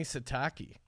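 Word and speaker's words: Sitake: Kalani Satake is 13-4. Is that a Japanese dish? It's the shiitake. How do you pronounce his name?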